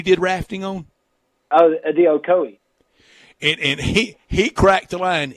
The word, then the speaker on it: Ocoee: And Louis Grizzard, the famous wit, humorist, he wrote a story about, how do you pronounce that river where you said you did rafting on? Oh, the Ocoee.